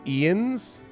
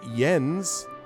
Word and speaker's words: Jens: us with a visit his name is pronounced ian's the hell do you get ian's out of j-e-n-s what i can understand jens ian's it's a j but you pronounce it like an i what so i've just